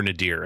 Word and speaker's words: Nader: we had the discussion I think it can be pronounced nater or Nader I think either way that it works either way it doesn't